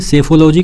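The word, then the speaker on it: psephology: यानी कि याद कैसे करेंगे सेफोलॉजी को? पी साइलेंट है यहाँ पे।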